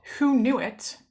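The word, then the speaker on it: Hoonuit: program that was previously called who knew it that's the pronunciation of it who knew it um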